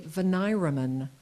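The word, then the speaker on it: veniremen: Veneeraman, a member of a veneer, an entire panel from which a jury is drawn. The letter said he was chosen as a veneeraman for the trial.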